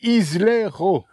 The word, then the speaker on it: Islero: Donc c'est une Lamborghini Islero S. Et non pas Ilero, parce que j'ai dit Ilero, je me suis fait gronder. Oui. On dit Islero.